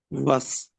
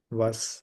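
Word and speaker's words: was: जी तो बताइएगा के बट को कैसे कहें प्रोनाउंस करेंगे हम जर्मन में वस वस ओके और व्हेन को वन वन ओके ओके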